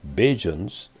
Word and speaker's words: Bajans: just as barbadians or bajans form by omitting the first syllable of barbadians and by pronouncing the di with a j sound are the people who